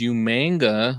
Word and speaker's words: Umaga: wasn't yeah wow and Raymond's correcting me on the pronunciation of Umaga which is umanga which I believe was how uh William Regal pronounced it umanga well what did you